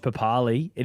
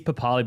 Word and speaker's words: Papali'i: So Josh Papali, it is Papali, by the way, not Papali'i.